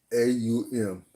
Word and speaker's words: Om: In Sanskrit, it's meant as you get a different symbol, and it actually pronounced as AUM.